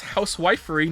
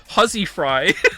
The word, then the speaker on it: housewifery: Not only is housewifery no longer pronounced huzzy fry, it is almost entirely obsolete as a word.